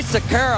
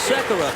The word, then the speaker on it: Sekera: Andre Sekera, I don't know if you've heard about him much, but he's having a career year.